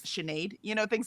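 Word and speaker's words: Sinéad: Um like when all of us found out that s i ne a d was shenade, you know, things like that.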